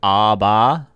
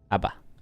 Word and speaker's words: ABBA: hate Abba good good pronounced it ABA yeah we say Aba here in Canada we say Aba Abba no we don't hate